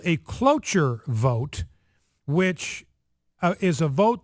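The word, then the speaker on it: cloture: United States Senate now this is called a clure vote which is a vote that has to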